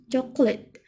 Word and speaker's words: chocolate: For example, in writing we can divide chocolate into three parts like this: chocolate. But when we say the word, we pronounce only two syllables like this: chocolate.